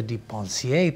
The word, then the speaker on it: de Pencier: Joining me today in studio, we have a special guest, producer, actress, director, Miranda de Pencier.